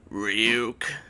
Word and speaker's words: Ryuk: it's pronounced Ryuk.